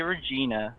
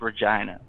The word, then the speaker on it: Regina: the name of this town you wanna say regina but the town is pronounced regina here's another thing for the viewers uh so